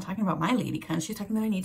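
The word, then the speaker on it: ledikant: Okay, it's not spelled anything weird. L-E-D-I-K-A-N-T. But as the shop owner starts talking to me and she keeps saying, you need a lady cunt, lady cunt.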